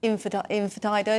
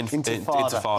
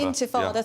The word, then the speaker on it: intifada: When you've got people going down the street, waving Hezbollah flags, chanting Infidida, is that how you pronounce it? Intifada. Intifada, thank you, and spitting.